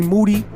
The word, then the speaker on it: Moody: on behalf of G moody whose last name rhymes with duty miles in Jordan rocking